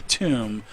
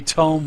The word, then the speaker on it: tome: tone uh word because I was calling it a tomb but uh yes he has a Tome with him and he opens up